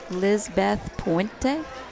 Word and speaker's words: Lizbeth Puente: Are you pronouncing her name correctly? Lizbeth Puente.